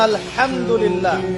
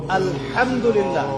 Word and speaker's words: আলহামদুলিল্লাহ: আপনি পড়ছেন আলহামদুলিল্লাহ শব্দটা কি আলহামদুলিল্লাহ এই হা এর মাখরাজ কোথায় কন্ঠনালীর মাঝখান থেকে এখান থেকে আপনি উচ্চারণ